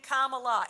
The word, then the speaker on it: Kamala: It's Kama like in a sentence, and la like la la la when you sing Kamala.